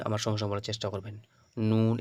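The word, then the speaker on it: نون: সমস্যা বলার চেষ্টা করবেন নুন এটা হচ্ছে নাকের মধ্যে গুন্না হবে নাকের মধ্যে আওয়াজ আসবে ওটাই হচ্ছে নুন ঠিক আছে নুন হয়ে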